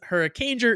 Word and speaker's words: Hurricaneger: episode that is called Hurricaneger. I didn't pronounce it as Hurricaneger. I pronounced it as something horrifically different than Hurricaneger. Kieran says Hurricaneger is just hurricane plus ger, as in ranger, not whatever the hell you said it was.